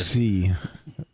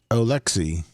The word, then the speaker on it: Oleksy: Oleksy Oleksy O L E K S Y All